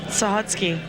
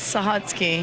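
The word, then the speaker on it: Sahutske: I am from hell what's your name sahotsky say it again sahotsky Can you spell that for us yeah yeah go ahead s-a-h-u-t-s-k-e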